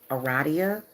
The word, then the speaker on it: Aradia: by talking about who aradia is okay or you can pronounce it eradia is you know maybe you can pronounce it like that but i wanted to